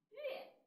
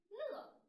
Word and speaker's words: 乐: 你瞧，第一个字念乐，音乐的乐，它是一个整体认读音节。第二个字念乐，快乐的